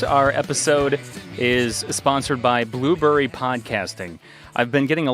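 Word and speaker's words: Blubrry: started podcasting in 2014 is blueberry podcasting and it's spelt b-l-u-b-r-r-y uh so you can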